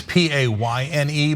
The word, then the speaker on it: Payne: Okay, it's P-A-Y-N-E but it is pronounced Payne, and he does work at the Pain Center, but that's P-A-I-N as in the actual pain.